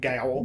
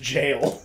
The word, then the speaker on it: gaol: right over time, but the original spelling of jail was G-A-O-L. G-A-O-L. Like gowl. Gowl? Gowl. I was like, that doesn't even say, those letters don't, that sounds wrong in every way. That's pronounced jail.